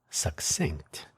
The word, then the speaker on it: succinct: Do you know the word succinct? That is the correct way to say that word succinct.